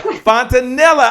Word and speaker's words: Fontanilla: Fontanilla. Did I get it right? Fontanilla. Did I get it right? Pretty close. Rhymes with vanilla. Vanilla. Fontanilla.